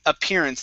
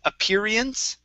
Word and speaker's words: appearance: and last one here is appearance instead of appearance okay appearance okay without diphthong okay one more time